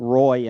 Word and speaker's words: Roy: like the hockey player patrick wah in canada patrick roy in america yes got it uh